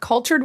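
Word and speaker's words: Culxtured: It's called cultured with an x. C u l x t u r e d. Ignore the x when you pronounce it.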